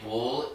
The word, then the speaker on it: bull: When you say bull, it's a U phonetically, and it's you only move your lower lip. Where you say bowl, you have to move your upper lip out.